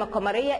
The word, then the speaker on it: القمر: القمر، انا وقفت عند القمر، اللام عليها سكون والقمر، يبقى انا نطقتها واضحه، يبقى دي لام قمريه.